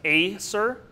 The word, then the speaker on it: Acer: our red maple so for two syllable words it's always going to be the first syllable that gets enunciated so here it would be pronounced Acer and that means sharper